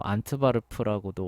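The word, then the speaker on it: Antwerpen: 유명한 한구 도시가 이제 앤투워프 뭐 안트바르프라고도 원래 그 발음한다고 하는데 하여간 거기고 이제 영국 같은 경우도 저기 비슷하죠.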